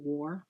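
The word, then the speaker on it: Ware: book is um bronny war war spelled w a r e I guess um the E is silent and yes I was going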